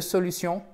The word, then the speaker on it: solution: Solution, quand le mot se termine en shun, vous avez l'accent tonique sur la syllabe précédente, donc sur l'avant-dernière syllabe.